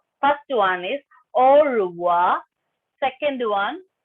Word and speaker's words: au revoir: Ma'am, first one how to pronounce? Meenakshi, remove that hand raising symbol. Okay. First one is au revoir.